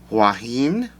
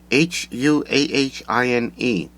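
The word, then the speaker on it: Huahine: she couldn't pronounce uh i'm not sure the pronunciation either juan i i don't know if that's correct h-u-a-h-i-n-e so um i'm just going to pronounce it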